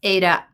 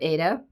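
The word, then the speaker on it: Aida: Jean uh Jean ferish that you pronounce aah AA like the Opera she very apropo um so I'm G to try to say AA instead of ADA but my brain has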